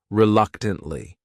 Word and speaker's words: reluctantly: The next word is reluctantly. This word has four syllables and the stress is on that second syllable. That third syllable also has that schwah reluctantly.